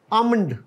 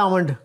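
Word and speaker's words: almond: अगला जो लज है दिस आमंड क्या होता है आमंड बादाम और यह जो है इसमें एक लेटर साइलेंट है व है ए अना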